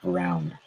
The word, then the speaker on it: Braun: And Christian Braun, dude. It's Christian Braun, by the way. Braun. Braun. Braun. It is pronounced Brown. That is fucking stupid. It's Christian Braun for me.